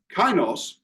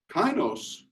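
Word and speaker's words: kainos: Greek word is the word K pardon me kinos if you want to spell it out it would be k a i n oos and that refers to new in quality or new in character and kinos is the word that is always used through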